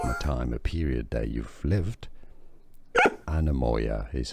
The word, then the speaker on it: Anemoia: Anemoia is how to pronounce it.